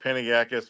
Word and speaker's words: Panagakis: But my last name, it's pronounced just like it's spelled, Panagakis, but is good, and we got 3 Chicago guys.